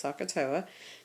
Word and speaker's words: SOHCAHTOA: So we're going to use this acronym at the top, this SOHCAHTOA is how you pronounce this, SOHCAHTOA.